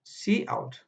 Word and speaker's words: cout: So we pronounce it as cout.